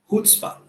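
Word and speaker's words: chutzpah: The next word is ये सुनने में थोड़ा गाली जैसा लग सकता है प्रोनाउंसिएशन में, बट इसका प्रोनाउंसिएशन वैसे नहीं होता है जैसा आप सोच रहे हो. इसका प्रोनाउंसिएशन ऐसे होता है, हुत्स्पा. ठीक है. तो इसको हम हुत्स्पा बोलते हैं एंड इसका मतलब होता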